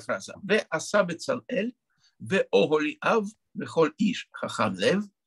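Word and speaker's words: אהליאב: Например, имя Оголи Ав. Под буквой Алиф Камац – это Камац-Кацар, который читается О, а не А.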